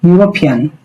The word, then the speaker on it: European: So, here it's European. So, European the first letter is E but found it U. So, the found is consonant found.